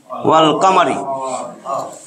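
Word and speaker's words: والقمر: আর যদি আমি চন্দ্রের অক্ষর লিখি, ওয়াল কামারি, তাহলে দেখেন লামের উচ্চারণ হয়েছে না?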